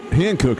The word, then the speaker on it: Hankook: Hankook is how you say it, right?